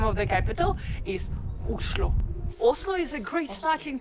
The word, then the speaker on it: Oslo: and actually in Norwegian the right way to pronounce the name of the capital islo Oslo is a great starting point to spend